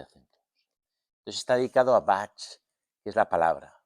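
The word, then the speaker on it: vāc: Entonces está dedicado a bat que es la palabra bat es palabra en sánscrito v a larga c má que la c se pronuncia cha vale B hay un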